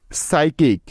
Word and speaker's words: psychic: এখন এস এর আগে পি সাইলেন্টের কিছু উদাহরণ, যেমন psychology, PSYCHOLOGY, psychology. সাইকিক, PSYCHIC, সাইকিক।